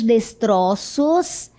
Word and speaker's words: destroços: Ele segue as pistas deixadas por indígenas e descobre os destroços de uma expedição perdida. Note a palavra destroços no plural com essa pronúncia aberta. E no singular, não é? Já seria um pouquinho diferente.